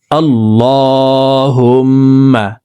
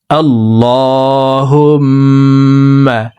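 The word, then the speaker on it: اللهم: আল্লাহুম্মা। আল্লাহ, এই লামকে ল বলে পড়তে হবে, কারণ আল্লাহ শব্দের আগের হরফে জবর অথবা পেশ হইলে এই লামকে ল অর্থাৎ মোটা করিয়া পড়িতে হয়।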